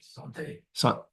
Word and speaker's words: santé: Santé.